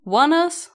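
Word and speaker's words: ONEUS: how to pronounce them one US yeah one us that's that's what their Wikipedia said I am my brain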